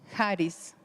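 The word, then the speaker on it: χάρις: Y eso se encuentra en el Nuevo Testamento y es cuando se presenta Jesús y nos rescata y se pronuncia Haris.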